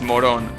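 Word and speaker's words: Morón: That's pronounced Moron. Before someone thinks that that's moron, yeah, it's Moron.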